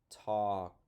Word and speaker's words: talk: silent E okay next and talk walk okay and I hope you notice that they both rhyme they have the same ending sounds and and it's spelled the same at the at the end of the word okay ALK says awk awk whoa awk okay now